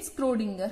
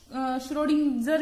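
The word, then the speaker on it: Schrödinger: Irwin स्क्रोडिंगर। हर किसी की pronunciation अलग अलग होते, कोई इसको श्रोडिंगर भी बोलता है, तो what ever you called that doesn't matter, I will call it स्क्रोडिंगर।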